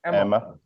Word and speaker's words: EMMA: And there are loads of steering committees similar to how EMA, sorry, how do you pronounce it? Emma.